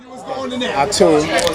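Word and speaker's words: Atum: Atun. That's Atun, not Adam.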